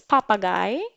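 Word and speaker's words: Papagei: it very interesting this word actually it is papa guy papa guy is a word now you have 5 Seconds Of Time spell it out papa guy 5 4 4 3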